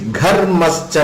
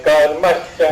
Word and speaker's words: Gharmascha: Agnischa me, Garmascha me. Gha. Go, I'm saying go only, sir. Okay, I think because of your pronunciation, I could not able to understand whether you are saying Gha or Ga.